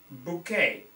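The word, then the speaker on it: bokeh: actually has a name in photography it's called bouquet b o k e h don't ask me why it is spelled like this and the quality of expensive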